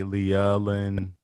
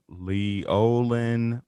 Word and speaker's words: Leolin: Don't add an A, Leolin. No, Leolin.